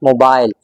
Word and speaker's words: mobile: In British English, this word is usually pronounced as mobile. British English में आप इसको मोबाइल ही pronounce करते हैं. बट इन अमेरिकन इंग्लिश आप इसको बोलेंगे mobile, mobile. This word is pronounced as mobile in American English.